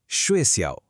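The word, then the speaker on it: 学校: উচ্চারণটা আরেকবার শুনুন। সুয়েসিয়াও।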